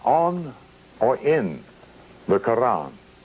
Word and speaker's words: Quran: on or in the quran notice how i pronounce that with the flavor of an arabic intent notice how i pronounce